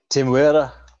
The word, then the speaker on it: Temuera: Temuera Morrison. Huh? Temuera, or you can just say Temuera.